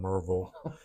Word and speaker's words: Maryville: East Tennessee, a little town called Maryville. Okay. Unless you're from there, it's called Merville.